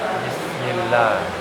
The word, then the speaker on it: bismillah: Terus kesalahan-kesalahan yang terjadi saat melafalkan ba membaca ba dengan samar am. Contoh bismillah. Bismillah. Ya, enggak boleh samar bacanya. Bismillah. Bismillah. Boleh. Bismillah. Bismillah. Iya. Biasa aja. Bi di karena ini huruf jahr.